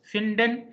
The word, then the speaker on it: finden: Here D will be D only. Why? Because these are the two syllables, finden, and here D is coming at the beginning of a syllable. So at the beginning, D will be da, but at the end, D will be ta, as the case is here. Kint, built. And here it will be finden.